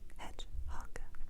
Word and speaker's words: hedgehog: Hog hog hog hog h les quand on a des mots qui commencent avec les âges, on prononce les âges. Hch hog hedgehog hedgehog.